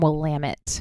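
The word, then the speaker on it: Willamette: Nicholas J okay and is from wamit which is how you pronounce that for anybody listening who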